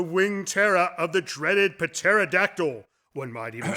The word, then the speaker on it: pterodactyl: Terror of the dreaded pterodactyl one might even say that what the p is silent is that because you